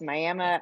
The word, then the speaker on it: Miami: It, it's Miami. spelled like Miami, but it's Miami, Oklahoma.